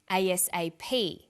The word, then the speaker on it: ASAP: Notice that each letter in the abbreviation is pronounced separately, but the last letter is pronounced more strongly because it carries the primary stress. So we say USA, ASAP, ABC, and TV.